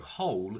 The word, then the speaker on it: whole: Now, after whole, we have a vowel sound from the word I, but because we have a comma, we sort of need to stop a little bit, and if we stop, we don't connect these two sounds, so whole still has a dark L.